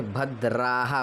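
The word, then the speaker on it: भद्राः: हरिह ओम मा आनो भदरा भदरा नहीं कहना है क्योंकि द में ही रा जुड़ा हुआ है। रा अलग से नहीं है कि भद राह आप बोलेंगे भद्रा द्रा जीभ को इस प्रकार से आप मोड़ेंगे।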